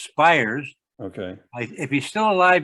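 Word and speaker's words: Spiers: how do you spell his last name s-p-i-e-r-s pronounced spires okay if he's still alive he lives in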